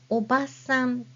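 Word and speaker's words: おばさん: Now, if I say oba-san, which means aunt, then oba-san has no extended a sound, so it's simply oba-san for the word aunt.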